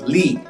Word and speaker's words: Li: Usually there are 3 ways to pronounce Li. If you see it in the roster, you may pronounce it as Li or Li. But the most common pronunciation in China is Li, the third tone. If you just say Li, that's probably okay as well.